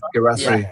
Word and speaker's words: Guirassy: Is that how you pronounce his name? Yeah, Guirassy.